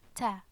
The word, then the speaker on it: تاء: two dots and also it's pronounced like ta okay so like it